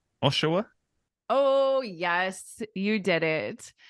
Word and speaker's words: Oshawa: like something like that but you got it Oshawa Oshawa not too bad right it's quite an